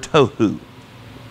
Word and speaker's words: tohu: word it's the word tohu tohu in English it's spelled just like it sounds t t o h